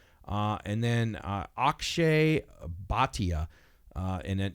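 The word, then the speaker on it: Bhatia: and then uh OE baa uh and then it's spelled AK s h a y like a sh and then baa b h silent a t a this guy's impressed me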